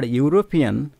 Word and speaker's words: European: that we are using n the second or European even if we have we have the vowel